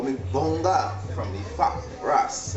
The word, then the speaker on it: Bongah: But people don't pronounce it Bongo. People say Bongah.